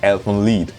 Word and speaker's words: Elfen Lied: Because I'm not sure it's meant to be German, because if it's German it would be pronounced Elfen Lied. But I've seen people pronounce Elfen Lied.